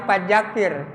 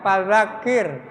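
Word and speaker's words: فذكر: Jangan da, padakir salah, apalagi pajakir. Ya. Ya, pajakir mah orang Jawa Tengah pernah teman tuh ya pajakir, tapi ini mah bukan fadzakir. Ya. Fadzakir la. Ya, fadzakir ro-nya dibacanya tarkik tipis ya.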